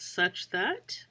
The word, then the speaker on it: such that: And then this guy right here is called such that. That's how you pronounce it.